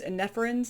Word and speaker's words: Eneferens: I believe is Eneferens is how you say their name.